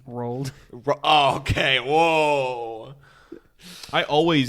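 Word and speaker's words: Roald: Tomatoes had uh oh uhoh what's his name rolled okay whoa I always it's a huge difference I I always mispronounce that name in my head thank you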